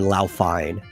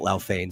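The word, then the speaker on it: Laufein: a single word okay it's pronounced differently depending on where you're on the planet some people call it lao fane some people call it loud find she specifically would have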